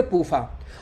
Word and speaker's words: PUFA: तो पूफा शॉर्टकट में हो गया, PUFA, इसको शॉर्टकट में पढ़ेंगे पूफा।